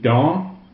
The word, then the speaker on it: dans: Preposition dans refers to something that's in a like a space, okay, if that makes sense, okay? So again, dans. Don't pronounce the S, it's nasal, the vowel is nasal.